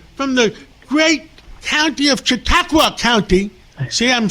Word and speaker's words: Chautauqua: With us today is Senator George Borrello from the great county of Chautauqua County.